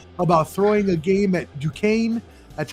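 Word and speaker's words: Duquesne: former NBA player about throwing a game at Dukane. That's how you pronounce it you marks out there. It's not Dkins or whatever you want to say.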